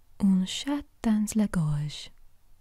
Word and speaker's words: un chat dans la gorge: Un chat dans la gorge.